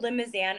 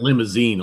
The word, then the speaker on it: Limousin: It's called Limousin oak. It's used for cognac and Armagnac. Limousin? Because I pronounced it limousine. It looks like limousine.